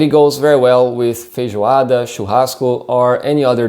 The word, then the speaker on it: feijoada: farofa so it's pronounced feijoada fei joe ada and as you notice jay has a different sound in the portuguese language so feijoada feijoada is